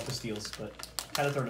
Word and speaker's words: pastilles: I know they're called pastilles, but had to throw an American touch on. This is my all-time... No, fruit pastels. Oh, I thought it was pastilles. No, you pronounced that wrong. It's fruit pastels.